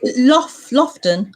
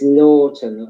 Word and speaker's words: Lawton: Is it Lofton? How you say your name? It's Lawton, like Lorton.